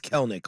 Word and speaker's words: Kelenic: Text line Kelenic is a great way to pronounce his name. But- But nobody knows how to say his name correctly. No, his name is Kelnick.